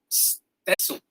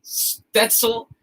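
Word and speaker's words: Stützle: I'll take a second to actually talk about this guy, Tim Stetzel. I might be pronouncing that wrong. There's no N. I added an N. He's German.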